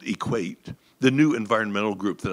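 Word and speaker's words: EQAT: group we we called equate the new Environmental Group that I had initiated in 2009 we pronounced our group's initials as equate because it made it fun and easy to say and remember the shorthand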